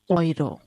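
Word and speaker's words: Euro: ठीक है, जब ई यू साथ में होता है तो उसका प्रोनाउंसिएशन होगा ओए। ठीक है, तो ये हो जाएगा हमारा ओइरो। ठीक है, इसको हम बोलेंगे ओइरो।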